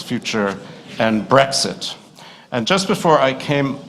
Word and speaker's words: Brexit: It gives the pronunciation of Brexit, which is not like Breakfast. It's not Brexit, it's Brexit.